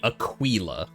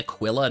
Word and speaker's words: Aquila: Caesar type of Latin it'd be Aquila there you go wouldn't it be Aquilla no eyes are always pronounced as e basically all vowels only had one pronunciation you're like I don't